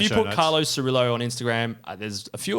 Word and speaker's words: Cirillo: Carlo_Cirillo, Cirillo, not Cirillo, but anyway, you can spell it however you want.